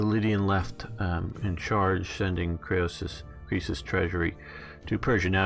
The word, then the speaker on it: Croesus: after the defeat of Chris Croesus that's how you pronounce it at least how you do it in English and 546 BC after